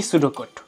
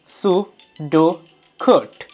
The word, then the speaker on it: pseudocode: আজকের আমরা শিখবো পি সুডোট ওহ ভুল করে ফেললাম উচ্চারণটা হবে সুড কোড বুঝেই গেছো বানানের সাথে